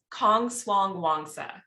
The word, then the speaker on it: Kongswangwongsa: really not that bad it's Kong Swang Wanga so I'm married into